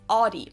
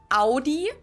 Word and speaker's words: Audi: the first one is aie most Americans that I know pronounce it like I just said it aie in German we say Audi AI what so we